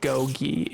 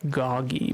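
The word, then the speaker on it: Gogy: he I saw that his name was written as like g-o-g-y at one point and my friend I told the term my friend I was like what's a Gogi and apparently it is not Gogi it is goggy but I didn't know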